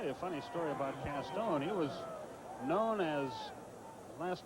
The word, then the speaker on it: Castone: Toby Castone on the stop. I'll tell you a funny story about Castone.